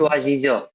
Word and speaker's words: choisissons: choisissons. সোয়াজিসন, জিজন না, কিন্তু double S থাকলে সবসময় স Okay, উচ্চারণ okay, হয়।